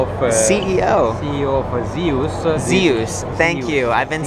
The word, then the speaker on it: Zehus: am the CEO of uh CEO CEO of Zeus Zeus thank you I've been saying it wrong